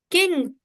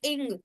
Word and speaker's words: king: King, the word king have the sound of K. Just pronounce it. King. K. King. It's not ing. It's king.